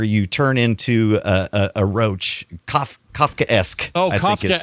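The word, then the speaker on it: Kafkaesque: turn into a roach, Kafka-esque. Oh, I think is how you- Kafka-esque. Got it. Kafka-esque. Is that how you say it? Yeah, Kafka-esque. Kafka, and then you put the esque on there, meaning it's like esque,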